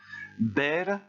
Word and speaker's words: ver: Ber, attention, le V se prononce comme un B, et ça donne beia, beias, beia, beiamos, beiais, beian.